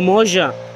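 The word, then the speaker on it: Mougins: When I saw them that, they were like, oh, Moja. I say, Moja? How it could be Moja? But their pronunciation and our pronunciation is quite different.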